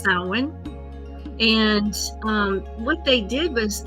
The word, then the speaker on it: Samhain: But Halloween's origins date back to an ancient Celtic festival called Samhain, and it's a M-H-A-I-N, but it's pronounced Samhain.